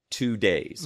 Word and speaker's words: Tudei: Now, the Two-Day is Tudei, but it is pronounced like 2 days, all right?